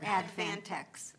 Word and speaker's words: Advantex: That's a different- Advantex. You were starting to say it right, Hilda, you just read my typo. Oh, so Advantex, no N. No N.